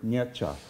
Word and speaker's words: Nietzsche: know it would know that's a two-syllable word nietzsche okay um even even